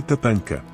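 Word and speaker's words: tatanka: El búfalo, se dice tatanca con acento en la segunda sílaba.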